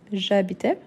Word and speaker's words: j'habitais: Donc, ici, j'habitais, avec lision, j'habitais. Pourquoi? Parce que c'est un H muet.